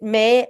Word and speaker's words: Mai: It's MAI. It May as the month of May, but it's spelled MAI.